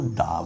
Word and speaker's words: the: টিএইচই, এই যে এই শব্দটা THE, এটাকে কখনো দি বলা হয়, আবার কখনো দা বলা হয়।